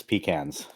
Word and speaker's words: pecan: what it's peans there there's three different pronunciations depending like just in the US where you're at and that is one of them p yeah I'm from the Midwest it's pecans I'm from the south